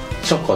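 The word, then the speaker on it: 茶菓子: ん、でも茶菓子って書いてチョコって読むらしいです。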